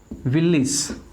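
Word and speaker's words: village: AGE किसी word के पीछे आ जाए तो उसको क्या बोला जाएगा? इज़। तो इसका जो प्रोनाउंसिएशन होता है मेरे प्यारे साथियों वो क्या होता है भाई? विलेज।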